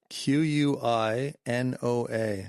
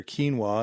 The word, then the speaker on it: quinoa: So, the pronunciation is K E E N W A H, quinoa.